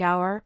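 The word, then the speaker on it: hour: In words like our, honest, and air, the H is completely silent and we glide directly into the vowel sound.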